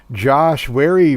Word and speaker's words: Wary: Josh Wary rhymes with Barry in the number 16, coming in the number 15, 23 laps down.